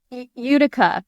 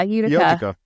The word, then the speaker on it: Utica: Udica. Yeah, Utica.